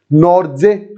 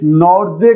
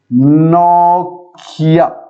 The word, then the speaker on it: Nortje: वो इसको बुलाने लगे एंड्रिक, और ये तो ठीक था, लेकिन इस नॉर्जे को वो बुलाने लगे नोकिया। नोकिया, यस, ये प्रोनाउंस करने लग गए वो लोग इसको।